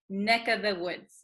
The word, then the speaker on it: neck of the woods: So, also, when we say neck of the woods, usually this of, the V sound kind of disappears because V's are hard to pronounce. So we tend to say neck of the woods, neck, This of becomes